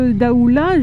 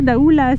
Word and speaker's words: Daoulas: c'est mort les donc là daoula je dis pas daoulas donc là on va